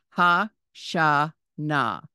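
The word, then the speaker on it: השנה: year but the year ha Sha Na again with the silent he at the end the fourth word is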